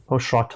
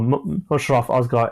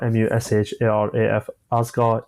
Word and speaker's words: Musharaf Asghar: I've had teachers in the past call me so many sort of different names, which I've like Mushrat or whatever it is. So I just thought I'd make it clear how it's spelled as well. Yes. So Musharaf Asghar, Musharaf Asghar, Asghar.